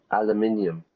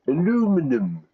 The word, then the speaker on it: aluminium: But here, he said aluminium. Aluminium, the metal, right? Americans will say aluminum. Aluminum. Which is a really stupid pronunciation of the word if you ask me.